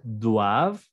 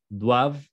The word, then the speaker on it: doivent: Ils doivent, elles doivent. Aquí tampoco, y como nunca en los verbos, vamos a pronunciar la ENT. Solo vamos a pronunciar la base. Doivent, doivent.